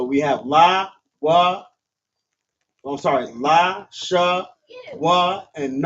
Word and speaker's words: Lashawan: And then w and n have a connector under both of them. connecting both of these letters from w and na to wan. So it's pronounced la shaan.